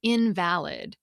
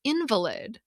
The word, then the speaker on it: invalid: in fact or truth when you stress the second syllable, as in invalid. But it means one who is sickly or disabled when you stress the first syllable, as in invalid.